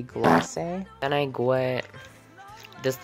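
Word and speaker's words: Glacé: Okay, so I didn't see the accent mark above the E because it's literally so tiny. But I think the way that's pronounced is actually Glace.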